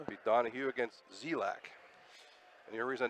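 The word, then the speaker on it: Dzielak: Be Donahue against Zelak. And the only reason I know how to pronounce that name is because I asked last time.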